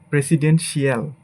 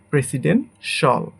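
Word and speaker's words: presidential: এটাকে আমরা সঠিক উচ্চারণই করি মার্শাল, মার্শাল, মার্শাল। এটাকে আমরা বলি প্রেসিডেন্সিয়াল, বাট এটা হবে আমাদের প্রেসিডেন্টশল, প্রেসিডেন্টশল, প্রেসিডেন্টশল।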